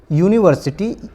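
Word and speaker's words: university: क्योंकि इसका उच्चारण आता है यूनिवर्सिटी, और यू या जो आता है ये आपके व्यंजन में से आता है, क ख ग जो आपका वर्णमाला है तो उसमें आता है, जिसकी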